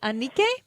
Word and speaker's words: Anike: is it Anike?